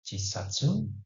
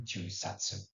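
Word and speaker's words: 十冊: Berikutnya ada jisatsu, ya, ini cara membacanya boleh jisatsu dan jusatsu. Tapi yang secara umum itu jusatsu, yaitu artinya 10 buku ataupun 10 jilid.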